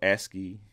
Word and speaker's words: ASCII: that's what they went for at least it's pronounced you know ascii you know maybe that's what they went for